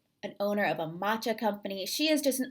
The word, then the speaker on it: matcha: don't know what is matcha great question I get asked that all the time and people wonder also about the pronunciation it is matcha it's not matcha and it's a green